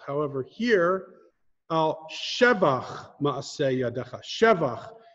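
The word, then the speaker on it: שבח: However, here, al shevach ma'aseh yadecha. Shevach. There are a handful of types of words that you emphasize the first syllable and not the second to last or the last syllable.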